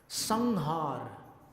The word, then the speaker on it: संहार: संहार, कैसा उच्चारण हुआ? ङ जैसा, संहार।